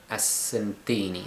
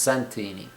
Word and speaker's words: Santini: uh which is as astini astini I think it is no sorry Santini I I I do apologize it's pronounced Santini they've even still got